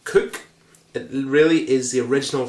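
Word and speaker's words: Coke: hobson loved his hat known um as a cook pronounced cook it really is the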